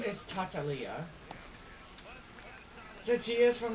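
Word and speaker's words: Tartaglia: I did hear that the actual way you pronounce his name is Tatalia.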